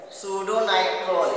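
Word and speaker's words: pseudonitrol: हर इसको बोलते हैं सूडोनाइट्रेट, लिख दे, सूडोनाइट्रोल इसको बोलते हैं बेटा। यह साइलेंट है, ये साइलेंट है, उसको बोलते हैं सूडोनाइट्रोल, नाइट्रोल इसको सूडोनाइट्रोल।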